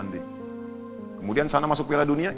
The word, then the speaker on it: Hyundai: ya Korea bikin hundai Hyundai bacanya hundai kemudian sana masuk Piala